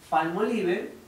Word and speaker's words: Palmolive: español sumamos palmolive palmolive la forma correcta de pronunciarlo es como del jamón palmolive viene de un fan